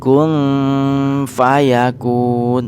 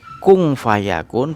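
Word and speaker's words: كن فيكون: Cara membaca yang benar kun fayakun. Jadi Innama amruhu idza arada syai'an ayyaqula lahu kun fayakun. Nah, jadi seperti itu membacanya, bukan kung fayakun, bukan kun fayakun, tapi kun fayakun.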